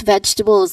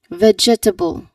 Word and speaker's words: vegetable: The common mistake here, it says people say it as vegetable. Again, vegetable. Let's try emphasizing the part here. Vegetable. Vegetable. That's what that's how um some people say it. Um they say it incorrectly by saying it as vegetable. But yes, we know we understand that this word is pronounced as vegetable.